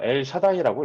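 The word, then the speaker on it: אל שדי: 히브리어로 읽으면 엘 샤다이라고 읽습니다.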